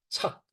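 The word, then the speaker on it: 著: 다시 또 어 즐겨서 착 죠이 이때는 저 짓는다 나타난다 뜻을 저가 아니고 붙을 착자 동의입니다 이때는 착이라고 읽고 붙어 있다 집착을 말합니다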